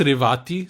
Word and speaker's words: Revathi: It's actually pronounced Revathi, Sujoy.